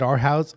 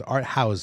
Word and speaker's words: Art House: So at the wrap-up party is going to be at our house. I keep saying it wrong. It's Art House.